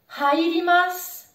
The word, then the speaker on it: hairimasu: Tu le vois, il y a un H encore en début de mot, donc attention, prononce-le bien comme tout à l'heure. Je veux l'entendre. Hairimasu. Hairimasu. J'entre. J'entre dans une pièce. Hairimasu. Allez, vas-y après moi. Hairimasu. Super.